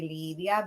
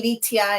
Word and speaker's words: Lydia: she pronounced lydia when people ask me what my name is i say lydia and you call me litia and some people call me olivia and some people call